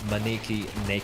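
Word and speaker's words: 招き猫: a beckoning cat uh pronounced as maniki NE I believe it's how you pronounced it I hope haven't butched that it's a Japanese figurine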